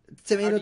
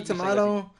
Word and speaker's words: tomato: sure how do you say it pecan pecan tomato tomahto potato potato how he says but I mean